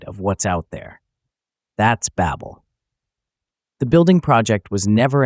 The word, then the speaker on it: Babel: In Hebrew, Babel sounds like the word Balal, which means to confuse.